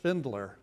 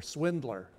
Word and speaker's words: Schwindler: Now, this is, you'll not be surprised, a pun, because the name is pronounced Schwindler or Swindler.